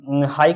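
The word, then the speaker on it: high: में क्या होगा जो जी एच होगा ये साइलेंट वर्ड होगा एच आई जी एच तो यहां पर जी हाई का मतलब होता है ऊंचा यहां पर लास्ट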